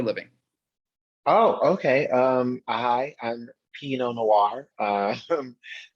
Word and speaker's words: P.No Noire: Hi, I'm P.No Noire. Pronounced like the wine, but spelled not like the wine.